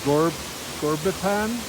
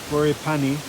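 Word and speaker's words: Ghorepani: Last night we were in Gorbipan. How do you say it? Where were we last night? Goripani.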